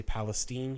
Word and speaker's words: Palestine: They had to move to Palestine, Texas, which is spelled like Palestine, but we say Palestine here in Texas.